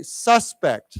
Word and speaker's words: suspect: of course so again here's one of those words where the pronunciation well or the accent is a little bit different here as a person that means we say suspect so why don't we